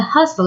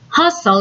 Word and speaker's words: hustle: a haven from the hustle and bustle of life Haven not heaven hustle and bustle notice that letter T is silent hustle and bustle moving